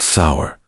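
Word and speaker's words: seiðr: Sumemedisid relied on magic, specifically a mysterious practice called cider, pronounced sour, which was part sorcery, part spiritual therapy, and part my ex want return my runes.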